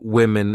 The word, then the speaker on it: women: even though the uh the singular and plural forms of women and woman have the same spelling at the beginning wow M the pronunciations are different woman women so watch out for that when you say this